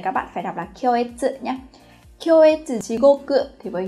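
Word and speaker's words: 恐悦: Hoặc nó có thể đứng sau, ví dụ trong cái trường hợp là kyoetsu shigoku, từ này các bạn phải đọc là kyoetsu nhé.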